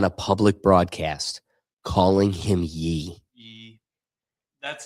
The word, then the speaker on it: Ye: You can't find yourself on a public broadcast calling him Ye. That's how I'm going to pronounce it, man.